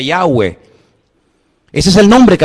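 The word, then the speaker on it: Yahweh: y he Bad he verdad ese nombre se pronuncia yahwe Ese es el nombre que aparece en el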